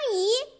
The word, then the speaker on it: 宜: 雨亦奇，亦读四声，总相宜，宜读二声，淡妆浓